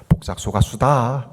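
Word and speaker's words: 폭삭 속았수다: 그래서 제주도에 사는 제주도 출신의 목사님에게 이 폭삭 소가수다를 제주도 사람들이 어떻게 발음하냐고 물어봤어요. 그때 이렇게 발음하더라고요. 폭삭 소가수다, 그렇게 한대요.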